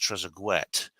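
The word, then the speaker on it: Trezeguet: footballer David trees um his name is actually pronounced tresette and it's not it's not a French name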